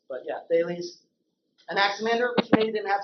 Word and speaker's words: Thales: When you were reading it without hearing anybody say it, you might have thought Thales. But yeah, Thales.